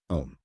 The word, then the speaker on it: Om: years C above asterisk since in Sanskrit a and ukes in O the sacred syllable is pronounced and often written om see the prayers in